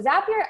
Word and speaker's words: Zapier: we have zapier so zapier actually rhymes with happier which is a fun